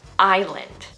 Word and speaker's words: island: Most people will say the S in this word when really it's silent, just like in our previous word aisle. So, can you guess the right pronunciation of this word over here? It's island. Island. No S pronunciation at all.